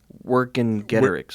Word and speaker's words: Vercingetorix: Vercingetorix, right? Vercingetorix, yeah. Wait, according to Gigi... Oh, yes. It's Vercingetorix.